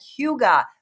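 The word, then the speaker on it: Hygge: We are going to be at Huga. That's how it's pronounced. If you've never If you've ever been in the meadows in Lake St. Louis, it looks like hygiene. It's not.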